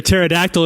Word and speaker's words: pterodactyl: Johan said, "Why can't you hear a pterodactyl in the bathroom? Because the P is silent."